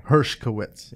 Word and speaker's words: Hershkowitz: let's see if I can even find the Hershkowitz Hershkowitz yeah Hershkowitz yeah okay herskowitz and just to give